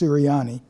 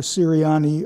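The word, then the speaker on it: Ceriani: I think it's pronounced Siriani, who was a country doctor in Kremling, Colorado.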